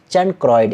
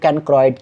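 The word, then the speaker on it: chancroid: पे पूछा गया है चैनक्रॉयड या इसे आप लोग कैनक्रो इड से भी पढ़ सकते हो यानी कि आपका प्रोनाउंस जो आपको अच्छा लगे वो पढ़ो कैनक्रो इड का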